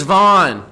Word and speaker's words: Vaughn: mowed my lawn Vince Vaughn his name rhymes with Sean but he ain't Sean and is it correct using